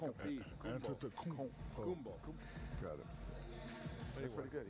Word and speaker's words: Antetokounmpo: And Shaq, you bestowed your Superman nickname on Giannis Antetokounmpo.